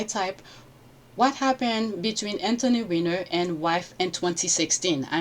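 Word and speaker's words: Weiner: Let me move it back slightly because he pronounced his name the Anthony winner. He only mentioned the last name, but uh he pronounced it kind of wrong. What was known to have been on on the whiner laptop. You see, he said whiner which had all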